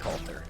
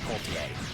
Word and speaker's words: Coulter: Coulter is pronounced Coulter, not Coultier.